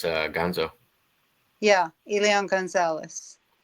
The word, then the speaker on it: Elian: Perth says, Elian, is that how it's pronounced? Elion, yeah. Elion, okay.